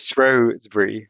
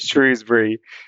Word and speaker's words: Shrewsbury: Yeah, I mean, firstly, by the way, people who go there, they pronounce it Shrewsbury. Shrewsbury. But but this is terrible because the people who live in the town, they pronounce it Shrewsbury. I mean, can you believe the arrogance of a school wanting to have their own pronunciation?